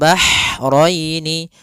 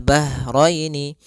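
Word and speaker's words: البحرين: Kemudian bahraini ha ini ha-nya ha kecil. Hati-hati jangan terbaca dengan ha besar. Jangan marojal bahraini ya kan. karena dia huruf ha kecil.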